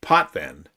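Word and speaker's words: Potvin: It sounds like an A, but it's an I and I know that.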